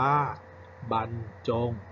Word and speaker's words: บรรจง: คำ ว่า บรรจง นะ ครับ บรรจง อ่าน ว่า บรรจง ขับ ต่อ ไป นะ ครับ บรรจุ และ บรรจุ